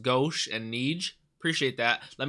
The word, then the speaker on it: Gauche: these names thank you whoever said it's it's pronounced gauche and niege appreciate that let me know how